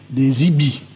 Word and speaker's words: EBE: celle de l'existence des IBI, EBE, prononcé à l'américaine, IBI.